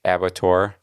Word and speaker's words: abattoir: By the way, I looked it up because I wanted to know how to say it. If it was abattoir or abattoir or what, because it looked French-ish, right? With the OIR kind of thing. But no, it's abattoir.